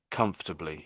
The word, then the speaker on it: comfortably: So when you're saying it, I can hear all of the different syllables one after the other, and there's a fraction of a gap between all of them. But when Brits say it, possibly even the Americans, we sort of rush it because we're so used to saying it, and I suppose we're obsessed with our comfort as well, Yeah.